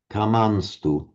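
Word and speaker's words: कामांस्तु: Okay, it's like as if it were just a straight ordinary N. Kamanstu.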